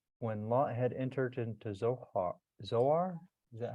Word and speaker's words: Zoar: And then when Lot had entered into Zoar, is that how you say it? Zoar, yep.